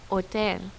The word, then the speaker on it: hotel: examples in spanish gato this letter in spanish is silence it is never pronounced you see it in words like hola and hotel notice that i did not say hola or hotel that's because that letter is silent and we don't ever